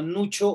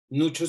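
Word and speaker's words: Nuccio: italiano que se llama Nucho Ordine. Nucho se escribe C-C-I-O, no con C-H, por fortuna.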